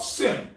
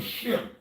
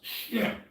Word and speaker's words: Shem: I'm gonna say, well, first of all, let's talk about Sem. Yeah. It's Semitic. It's really Shem. First of all, it's pronounced Shem.